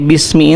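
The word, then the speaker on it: بسم: E jadi hamzah wasal itu hamzah yang memang harus ada dalam tulisan hanya tidak diucapkan seperti bismi ini.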